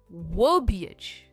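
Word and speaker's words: verbiage: इसकी प्रोनंसिएशन है व बीएच। वबच व पर इसका स्ट्रेस है।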